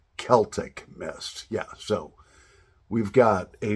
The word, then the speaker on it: Celtic Mist: You're pronouncing it wrong. The correct pronunciation is two friends, Celtic Mist. Got you guys on that one. Yeah. So Celtic Mist, actually, when I first started my YouTube channel, I did a tobacco review and I called it Celtic Mist. And there were many people that were quick to respond to correct me on the correct pronunciation. It is Celtic Mist.